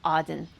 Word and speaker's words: Eden: I pronounce with the paleo reconstructed PaleoHebrew um pronunciation of Aden.